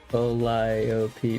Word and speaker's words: Calliope: Calliope. No, that's 4 syllables.